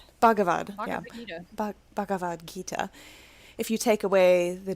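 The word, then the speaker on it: Bhagavad Gita: out of baga b I'm so bad at pronouncing Indian. It's bavad. Bavadita Bavad Gita.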